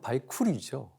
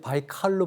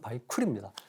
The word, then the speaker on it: 바이칼: 바이칼이 아니라 원 발음은 바이쿨이죠. 러시아 사람들이 바이칼로 발음했을 뿐이지 원 발음은 바이쿨입니다.